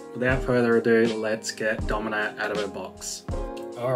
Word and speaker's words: Domina: I think I was pronouncing it Dominica, and there's no K in that. So Domina is how I saw it pronounced in another video. So we're just gonna stick with that.